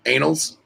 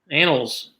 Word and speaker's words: annals: Anals? Annals. Annals. All right. So you just said it right, but there was an episode, I think, at THP where they were getting on you about anals.